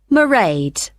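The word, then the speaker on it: Mairead: do you spell that it's m a i r e a d marade okay got that it's not a name i'm familiar with oh it's an irish name she comes from dublin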